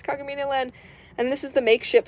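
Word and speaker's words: Kagamine Len: How do you how do you pronounce this character's name?" And I was like, "Oh, it's Kagamino Land."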